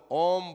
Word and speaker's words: ओम: ओम बोलने से आ ई म, ओम इस शब्द का उच्चारण हो जाता है, क्योंकि इसमें यही मिले हुए हैं।